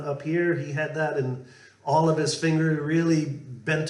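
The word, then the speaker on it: Inagh: There's a river that comes through the town called Ina, depending, I'm not quite sure on the pronunciation. I think it was I-N-A-G-H is the spelling of it.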